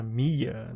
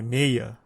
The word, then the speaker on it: Meia: Pra Mia, não é isso assim que falam? Pronunciou. Não, é Meia.